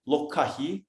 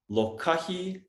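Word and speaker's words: lōkahi: I'm going to write it, lokahi, and then we're going to share what Brother Juan shared, hauka. Brother Juan, will you type that in the comments so people know the correct pronunciation? Lokahi, and Hauka.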